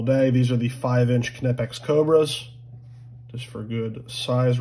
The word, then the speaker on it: Knipex: go so those are some knipex and yes that is how you pronounce it I will fight in